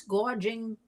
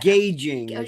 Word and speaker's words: gouging: I don't want to hear about price gouging because somebody can't pronounce gouging or whatever she said. Gauging.